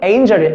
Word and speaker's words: angel: 됐죠 뭐라고 아니면 네이버 엔젤 안됩니다 발음이 에인절 angel a 해보고 저를